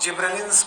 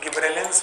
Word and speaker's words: gibberellins: अब इनको प्रोनाउंसिएट करने के सबके अलग अलग तरीके हैं। कोई गिब्रेलिन्स बोलते हैं, कोई गब्बर सिंह बोलते हैं। So these are not gibberellins, these are gibberellins, gibberellic acid.